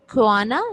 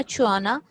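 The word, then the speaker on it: choana: तो ये अंदर की तरफ देखें तो ये आपको ख्वाना या छुआना जो भी है, आपने प्रोनाउंसिएशन दोनों हैं इसकी, तो ये है, और इसको कहते हैं पोस्टीरियर नेजल अपर्चर या ख्वाने या छुआने।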